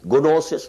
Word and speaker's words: gnosis: subhanahu wa ta'ala, the gnosis. This is written with g but pronounced without g. Gnosis, no, gnosis, gnostics, عارفین, Gnostics.